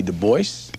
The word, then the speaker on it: Du Bois: David Levering Lewis W.E.B Du Bois yes he always insisted on that pronunciation he did not like the Gaelic pronunciation though in his antecedence he was partly French look at this nigga's